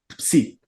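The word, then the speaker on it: ψ: Se le agrega la S, entonces se transforma, no, está la fi, perdón, se transforma en una psi, psi, que se pronuncia como en Pepsi.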